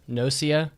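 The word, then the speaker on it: gnosia: Yeah, I don't think you say the G in that word. So 14% of the vote uh picked Nosia, which means you're a big fat loser.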